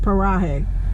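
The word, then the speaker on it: Paraje: but then when she pronounces it she says parahae i don't know what that's about so i have to say paraguay even though it's pronounced parahe p-a-r-a-j-e so anyway we're headed to new mexico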